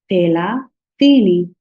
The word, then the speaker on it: thelathini: So I'll repeat again. Thelathini. So my tongue is taken out of my teeth.